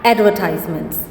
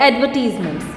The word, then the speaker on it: advertisements: Pixar is famous for producing documentaries, video games, animated feature films, advertisements or advertisements. Both pronunciations are correct.